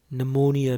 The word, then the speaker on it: pneumonia: ph တွဲလိုက်တဲ့အခါ f တန်ဖြစ်ပါတယ်ဒီစည်းကမ်းလေးကိုကျွန်တော်တို့တစ်လုံးချင်းလေ့လာခဲ့ပါတယ်ပထမဆုံးစာကြောင်းမှာ psychology ဖြစ်ပါတယ် p တန်ထည့်မထွက်ပါဘူးနောက်တစ်ခုမှာတော့ pneumonia ဖြစ်ပါတယ်ဒါရဲ့ရင်းနှီးပြီးသားစကားလုံးလေးတွေပါနောက်တစ်ခုမှာ recit ဖြစ်ပါတယ် p ပါလို့ပါဇက်ပိတ်တာမျိုးမဟုတ်ပါဘူး recit ပါနောက်တစ်ခုမှာတော့ cardboard